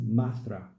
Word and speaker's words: Mathura: Krishna was said to have been born at Mathura, pronounced Mathra, on the river Jumna, where